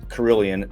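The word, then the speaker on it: Carilion: you want good care, but you guys have Carillion. I'm not trying to steal your thunder. Did I pronounce it right?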